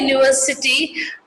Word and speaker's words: university: We say a university, not an university. A union, not an union, because university and union are pronounced with a Y, the consonant sound.